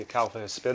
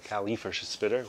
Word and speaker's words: Acalypha hispida: freest blooming tropical plants, the Acalypha hispida, or Acalypha hispida, whichever way you want to pronounce it.